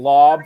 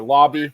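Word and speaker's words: Laube: ball Dart throw Dylan lob or Lobby I'm still not convinced I know which the right way to pronounce think it's lobby lobby okay I think it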